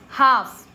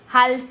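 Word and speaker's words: half: एच एल एफ हाफ हल्फ नहीं पढ़ते। हाफ नहीं पढ़ते हैं क्योंकि ए के बाद में एल आया हुआ है। मैंने आपको बताया ए ओ यू ए के बाद में एल है तो साइलेंट।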